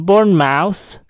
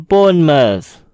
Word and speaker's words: Bournemouth: Kata ini tidak dibaca dengan Bournemouth, tetapi dibaca dengan Bournemouth. Bournemouth.